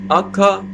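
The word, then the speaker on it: acca: f the accent on f f g by akka because h um is silent in italian just like in french that the age is silent so akka e j yeah guys please be careful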